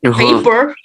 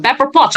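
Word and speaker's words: Pepper Potts: paper yeah with a paper what was that yeah pepper pepper pots right pepper pots yeah I'm sorry I just mispronounced it with paper gosh Tony could not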